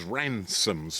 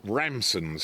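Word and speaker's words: Ramsons: A lot of people pronounce it as Ransoms, which is a company not far away, Ipsswitch that lawn mowers, lawnmowers and and plows.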